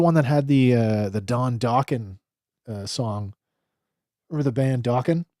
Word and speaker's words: Dokken: For some reason, I always pronounced it Dokken. No, man, Dokken.